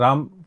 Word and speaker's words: RAM: के अंदर हम, तो टीचर ने बताया इसको रैम बोलेंगे, राम नहीं बोलेंगे, क्योंकि RAM, राम की स्पेलिंग भी ये होती है ना, तो राम नहीं है और रैम कहते हैं इसको।